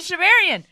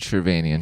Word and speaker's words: Shervanian: it on arm and shiverian did i say your name wrong it's arm and shervanian just sherbanian yeah people who are wondering